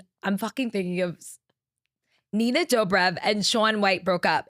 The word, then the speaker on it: Dobrev: Nina Dro, is that how you say it? Dov Dobrev.